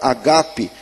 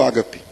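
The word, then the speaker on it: ἀγάπη: palavra grega ali é a palavra agape, que a gente fala aqui no Brasil ágape. As palavras aqui, o grego não permite que a primeira sílaba seja tônica, mas tudo para nós, agape vira ágape, ômega vira ômega, enfim.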